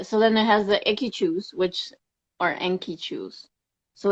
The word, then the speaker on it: Enkychu: Um, and then yeah, so then it has the Enkichus, which are Enkichus. So it's spelled Enkychu.